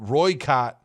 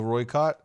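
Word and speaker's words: Rooikat: I think that's how we say it. I think I mispronounced it last video, but Roykott is, I think, the pronunciation.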